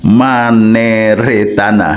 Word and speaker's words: Maneretana: the name of my Aglonema, this one is Maneretana, friends, yes, Aglonema Maneretana, so that I don't pronounce it wrong again, my friends, it's beautiful, it's okay.